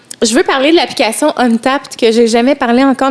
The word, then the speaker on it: Untappd: Ça s'écrit UNTAPPD. Untapped, comme si c'était genre une action.